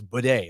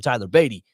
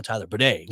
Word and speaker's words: Badie: I get a call from the Broncos and I said, no, it is Badie. Like, we found out this week he came to us and told us it's pronounced this way.